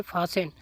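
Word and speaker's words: fasten: और अगला लफ्ज़ है फासेन, अब इसमें भी टी को नहीं पढ़ा जाता।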